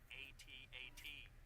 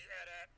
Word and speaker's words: AT-AT: It's pronounced AT-AT. Nope, it's an AT-AT. That's how it's spelled, not how it's said. Nope.